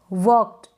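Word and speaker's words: worked: वर्कड, वर्कड ना पढ़े, आर का भी साउंड कम आएगा, आधा र है इसलिए।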